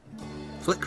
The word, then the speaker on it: Flik: Flik rhymes with dick.